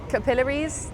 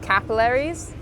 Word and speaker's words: capillaries: Yeah, so we say it capillaries, like capillaries, as in your eyes. And I didn't know that actually in America it's pronounced capillaries.